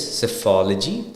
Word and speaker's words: psephology: PSE, P will be silent. So it's psephology.